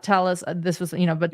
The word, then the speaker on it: Telles: Vegas Review Journal um people in El Paso still use the Spanish pronunciation tus for the family name but during his time in Las Vegas Robert Tellus pronounced his last name tell us this is Las Vegas